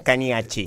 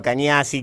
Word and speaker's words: Cagnacci: Se pronuncia, si lo querés decir en tano, es Cañacci. Cañacci, por eso. Cañacci. Sí. Pero estoy acostumbrado a Cañazzi, Cagnazzi, como sale.